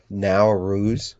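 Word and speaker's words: Nowruz: n o w r u z is how it's spelled now r no now ruse which means new day in Persian starts uh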